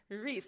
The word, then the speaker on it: Rhys: Reese, not Rhys. Reese.